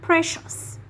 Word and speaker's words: precious: So when the C sound has two or more vowels, we pronounce it as sh, okay? Like ocean, financial, special, and precious.